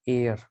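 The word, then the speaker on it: heir: ये देखो, इसको प्रोनाउंस करते हैं एयर, ए से प्रोनाउंसिएशन हुआ तो एन आएगा ही आएगा।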